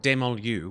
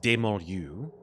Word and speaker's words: Dementlieu: That's Certainly not in Demontlieu, which was, by the way, the real way of pronouncing Dementlieu, which I completely scrubbed the first order of our session here, but it's actually pronounced Demontlieu.